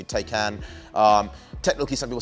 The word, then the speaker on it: Taycan: you pronounce it what's the proper way tai can yeah i mean that makes sense to me take can um technically some people